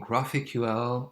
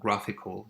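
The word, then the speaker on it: GraphiQL: is making available it's called graphic UL or graphical you can pronounce it the way you want so on the left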